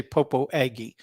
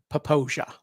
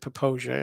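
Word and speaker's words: Popo Agie: like that that's the forest used to say popo aggie the correct pronunciation is poposia that's how it's pronounced uh it's a native american uh phrase and they pronounce it poposia and it's just beautiful we used to the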